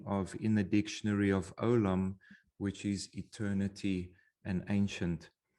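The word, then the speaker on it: עולם: just so you know how we pronounce it the i yin the ien is silent and then you have a vav above there's the column so that is what gives you the o sound this is yet the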